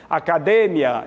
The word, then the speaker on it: academia: para no cio melhor no português acadêmia é assim que nós pronunciamos a língua portuguesa espanhola academia então a tônica é de ir em português academia a tônica Mia Então essa palavra sim ela é tônica ela tem sílaba tônica diferente em ambas as línguas